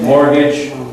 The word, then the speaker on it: mortgage: Mortgage, no T. Make pretend there's no T on the pronunciation. Spelling, yes. Mortgage, but pronunciation, forget the T.